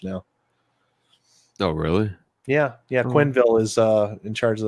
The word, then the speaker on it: Quenneville: a hockey coach now no really yeah yeah Quinn Ville is uh in charge of the Florida Panthers now I was just gonna say is it Joel Quenneville it's Joel Quenneville I haven't watched hockey George Q baby coach